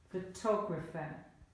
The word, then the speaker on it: photographer: To demonstrate the change in word stress, repeat the exercise with another word, for example, photographer. And the stress, photographer.